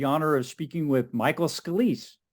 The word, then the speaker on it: Scalise: And today I have the honor of speaking with Michael Scalise. It's Scalise, or how do you say I'm sorry, I should have Scalise, asked that. Scalise, Scalise. Okay, I got it right.